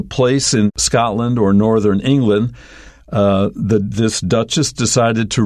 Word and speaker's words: England: that ends in land it may not be pronounced that way for example England we don't say England right we say England but at the end is Lent Scotland is another example